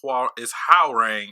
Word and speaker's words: Hwoarang: It's Hwoarang.